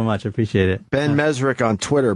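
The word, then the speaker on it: Mezrich: c h Ben mesri is it mes or mesich I say mezri okay I've been saying your name wrong I apologize it's okay my parents say mezri so you're probably right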